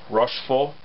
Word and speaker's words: Rochefort: I'm getting that right rashful I don't think you pronounce the T on the end of that um what's the name